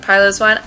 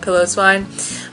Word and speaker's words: Piloswine: Leo likes to pronounce it Piloswine. I like to pronounce it Piloswine because it's a fluffy pillow.